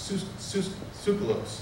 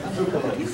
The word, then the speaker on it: Tsoukalos: And obviously, through the work of Eric von Daniken and Giorgio Tsoukalos, I always say your name wrong, it's Tsoukalos. Actually, it's a Miller. Okay. No, it's Tsoukalos.